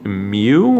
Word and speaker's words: mu: of it as a fancy M but it's pronounced mu or mu and this represents the population mean